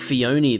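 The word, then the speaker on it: Phione: Oh, so it's pronounced Fione then. Oh, I've been mispronouncing it wrong this entire time. I assumed it was the Japanese pronunciation. But if it's meant to be Cleone, then it's Fione then.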